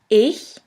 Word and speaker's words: ich: in the first case this letter combination sounds simply like the H in the word huge here we have the example of the word ich which means I in